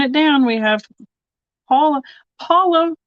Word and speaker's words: Paula: Paula rhymes with koala in at 3.